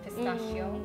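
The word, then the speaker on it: pistacchio: say i already know pistachio no it's pistachio oh oh okay so like the hard seas yeah because there is double c but also the h okay so it's pistachio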